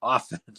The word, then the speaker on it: often: grade English teacher saying if you don't pronounce the T in listen or soften then don't pronounce the T in often that makes sense and